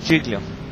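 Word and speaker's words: Ghiglio: to pron how to pronounce g h i g l i o I think it's jigo jigo oh I'm happy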